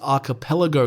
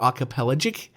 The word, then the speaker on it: archipelagic: it's the world's largest archipelago country or archipelagic is how you say it archipelagic country and